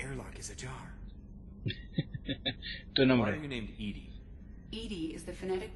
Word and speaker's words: EDI: reminding me the airlock is a jar named edi is the phonetic pronunciation of edi that is an acronym for